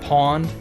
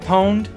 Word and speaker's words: pwned: that way that happens back in the day we pronounced it pawned some started pronouncing it pwned and then i guess just over time that pronunciation has won out oh well oh